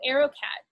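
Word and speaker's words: AeroKat: an aerocat device um arrow cat is spelled funny it's a e r o and then capital k k a t so arrow cat and it's just that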